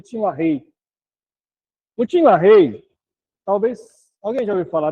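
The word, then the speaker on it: Tim LaHaye: Tinla, a gente fala, mas pronuncia tinrei.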